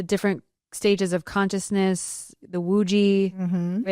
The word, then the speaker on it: Wuji: No, it starts with the wuji. A is pronounced the Wuji is W U J I.